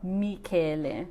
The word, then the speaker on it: Michele: I'm named after my nonno, Michele. So it's written with one L, but because I was born in Australia, si pronuncia Michel.